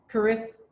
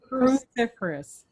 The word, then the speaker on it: cruciferous: How do you pronounce it again? Cruciferous. Cruciferous.